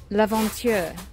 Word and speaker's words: L'aventure: L'aventure.